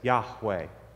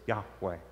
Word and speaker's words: Yahweh: a four-letter tetragram with no vowels it's we pronounce that as yahweh that happens when you take the the letters